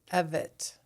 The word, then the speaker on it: Evette: How do you pronounce your last name? Everett.